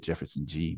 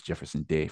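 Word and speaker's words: Jeferson De: did from what I understand is how it's pronounced I've always said Jefferson G but it's Jefferson Dave from what I understand it tells the story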